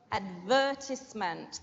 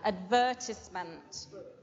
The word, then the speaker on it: advertisement: read a job advertisement advertisement the stress then here advertisement next one go for a